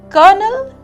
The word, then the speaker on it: colonel: But what about the pair of colonel and kernel? Although the spelling is COLONEL, the pronunciation is the same as KERNEL.